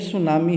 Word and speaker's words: tsunami: आप गौर करेंगे तो जो सुनामी वर्ड है इस सुनामी में टी साइलेंट रहता है यानी टी का हम उच्चारण नहीं करेंगे ठीक है तो यह सुनामी है अच्छा यह तो हो